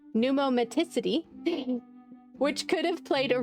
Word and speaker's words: pneumaticity: Reconstructions of the neck and thorax of diploidas show great pummacity. I know I pronounced that wrong. pneumaticity which could have played a role in respiration as it does in birds.